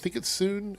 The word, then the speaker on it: Sun: Soon Zhu said, I think it's Soon. Is it Sun or Soon? I know it's spelled Sun, but I think it's pronounced Soon.